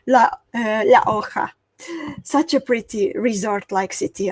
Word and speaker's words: La Jolla: Pronounce the Spanish way, La Hoja.